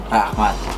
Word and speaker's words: rahmat: Rahmat. Rahmat. Rahmat. Say rahmat. Rahmat. Rahmat. No, rahmat. Rahmat. Rah. Rah. No, R. Rah. Rah. Mat. Mat.